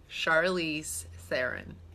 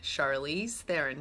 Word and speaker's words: Charlize Theron: How to pronounce Charlize Theron. Well, that was it. Charlize Theron. Charlize Theron.